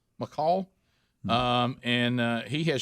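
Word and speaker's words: McCaul: from texas uh michael is it mccall how you say his name c-a-u-l mccall um and uh he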